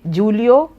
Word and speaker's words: Julio: So anybody with Indian English would say Julio iglacius whereas it should be pronounced as Julio.